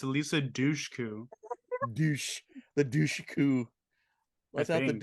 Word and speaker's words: Dushku: Alicia Guku? No, it's better. It's Eliza Dushku.